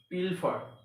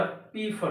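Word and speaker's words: pilfer: C option पीलफर या पी फर के, L silent होता है, एल साइलेंट नहीं रखो तो भी चलेगा, पीलफर या पी फर।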